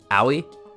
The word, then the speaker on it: Aoi: As of right now, I can never pronounce her first name. Oh, wait. Aoi?